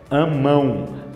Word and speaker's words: amam: a palavra Eles amam ninguém fala amam amam não ninguém fala isso amão mão mão M percebeu isso é a mesma pronúncia da palavra mão e o que acontece